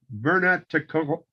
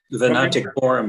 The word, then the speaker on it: Venaticorum: Y Canum Vernaticorum. Vernaticorum. You guys know how to pronounce these things. Yeah. Certainly, Chuck does, and Chuck is on assignment this week. Venaticorum is correct.